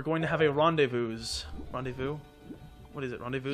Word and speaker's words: rendezvous: Rendezvous. What is it? Rendevous. You don't pronounce the last like five syllables in every French word.